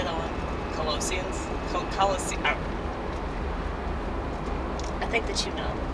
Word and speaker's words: Colossians: Colossians? I think that you know. If you're a Bible person, you know. It starts with colossal, okay? Colossians.